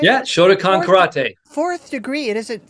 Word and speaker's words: Shotokan: Shotokan right am I saying it right yeah Shotokan karate fourth degree it isn't first degree that